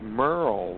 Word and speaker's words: Merrel: TJ, actually, my parents spelled my name like it should be pronounced Merrel, but it's Merle, like Merle Haggard.